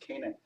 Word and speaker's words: Canaan: pronounce it in canada it's become an English word and it's pronounced Canaan so Kayden is the